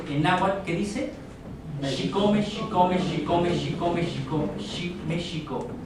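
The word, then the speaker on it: chicome: El número 7, porque el 7 en náhuatl se pronuncia Xicome, y cuando repetimos varias veces Xicome, se conjuga o se crea el Xicome, Xicome, Xicome, México.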